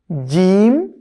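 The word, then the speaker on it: ج: তার মানে যদি জিমের উপরে আমরা জবর দিই উচ্চারণটা হবে যা, যা, খুবই শক্ত করে যা, জিম জবর যা।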